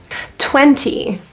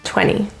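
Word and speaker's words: twenty: uh uh look look 20 notice the T the second T is deleted here n with t after it typically is dropped 20 20 20 give you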